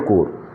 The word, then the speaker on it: corps: कोर का spelling होता है CORPS। हालांकि जब उसको हम पी को साइलेंट कर देते हैं या उसका प्रोनाउंसिएशन नहीं होता है।